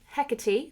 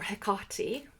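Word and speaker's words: Hecate: today is this book, Hecati the Witch, or Hekotti if you're British. um by Nikita Gil who is British so that's how she pronounces it and I'm obsessed with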